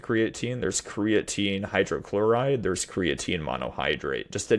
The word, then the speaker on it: creatine: I think you were mentioning about is it creatine? How do you pronounce it?